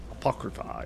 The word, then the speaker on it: Apocrypha: Sir Knight who seems to be trapped in Apocrypha. Is that how you say it? Apocrypha, yeah.